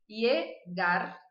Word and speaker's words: llegar: A primeira pronúncia que eu vou trabalhar com vocês, então, é como se fosse um I. Então, eu vou dizer me llamo. Me llamo. Eu vou dizer número 2, llegar. Llegar. A número 3 é um pouquinho difícil, concentração.